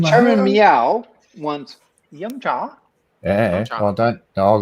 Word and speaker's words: yum cha: You have to say yum cha.